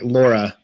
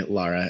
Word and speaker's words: Laura: can people find you I feel like I say your name wrong Laura Laura yes and that's why I say Lara it's just habit so